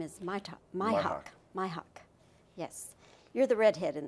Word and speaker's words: Mihok: My mother pronounces it Dashiell, so I have to pronounce it Dashiell. And last name is Mihok. Mihok.